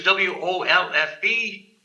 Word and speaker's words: Wolfe: them my name is w-o-l-f-b Wolf the E is silent just like